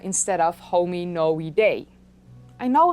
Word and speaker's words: Hominoidea: Of course, all of this started way back with the hominoidea, that I joked in that video should be pronounced as hominoidea instead of hominoidae.